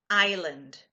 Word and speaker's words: island: careful with the word Island it's written Iceland or is it 'land but we do not pronounce the S the S is silent island okay and eight